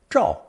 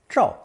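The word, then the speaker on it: 照: fire radical underneath the phonetic Jo the new combination is pronounced fourth tone draw draw as the original torch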